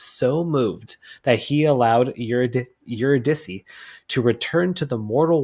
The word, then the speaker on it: Eurydice: And I believe, based off Wikipedia, her name is pronounced Eurydice.